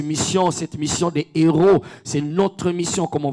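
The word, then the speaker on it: héraut: Mais dans les termes dans un terme royal royau, on l'appelait des héros des héroses. Donc des héros, ça s'écrit non pas comme héros, comme héros de la foi.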